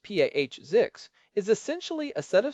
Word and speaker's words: POSIX: Pix spelled POSIX and usually pronounced P Azix is essentially a set of standards that define how an operating system should behave.